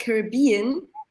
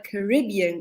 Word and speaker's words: Caribbean: Ich hatte gesagt Caribbean, aber dann ist mir eingefallen, in ein paar Liedern hatte ich auch mal Caribbean gehört. Es ging um die Aussprache. Und Stefan hat uns gerade erzählt, es kommt einfach auf den Akzent an und beide Aussprachemöglichkeiten sind möglich. Also noch besser für uns, egal wie wir sagen es richtig.